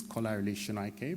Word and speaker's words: Kolarele Sonaike: defendant not the barrister it could be somebody mispronouncing my name uh my name is kolarili shinaike but i once called up a solicitor who